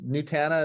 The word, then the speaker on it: Nutana: nutana that's very close nutana is what I say Hannah okay nutana yeah